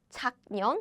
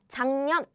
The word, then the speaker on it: 작년: So 작년, letter by letter. 작년. However, in real life, we pronounce 작년.